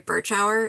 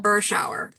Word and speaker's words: Berschauer: Berschauer is how you pronounce it. Shower. So like cold shower. That's how I tell people. Berschauer.